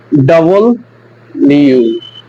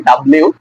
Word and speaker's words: W: হবে ঠ এরপরে হচ্ছে ডাবল ইউ মানে ডব্লিউ আমরা যেটাকে বলি ডব্লিউ সো এটা ডব্লিউ না এটা হবে ডাবল ইউ ডাবল ইউ সো আমরা